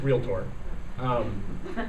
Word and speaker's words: realtor: and by the way how many of you think it's pronounced realtor or realtor okay realtor sorry it's a pet peeve it's real tour we have to teach